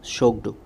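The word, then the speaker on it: Tshogdu: उसके बाद भूटान शोगडू, इसका जो प्रोनाउंसिएशन होता है वो शोगडू, ओके।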